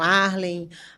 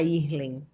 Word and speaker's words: Ayrlen: dificuldade da pronúncia, então acabava falando Arlen e Arlen, mas nunca falava Irlen.